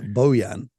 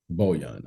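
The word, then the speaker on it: Bojan: the whole thing down if you want to be correct bohyan boyan okay he's been terrific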